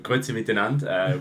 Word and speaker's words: Grüezi miteinander: Grüezi miteinander, we would say in Switzerland.